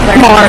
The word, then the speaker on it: Maher: How do you say his name? Maher. More.